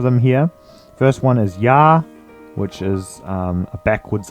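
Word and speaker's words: Я: here first one is ya which is um a backwards R it's a backwards capital r and it makes the y a sound ya as in yard now the next one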